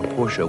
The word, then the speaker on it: Porsche: porsche and uh garden porsche is spelled g-a-u-d-i-n but pronounced god in fortune like g-o-i-d-i-n and porsche actually should be pronounced as two syllables there you go so